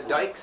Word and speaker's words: Dyke: And everybody that had D-U-E-C-K pronounced it that way. And the Dicks stayed with D-Y-C-K. And the Dykes, they had Dykes, D-Y-K-E.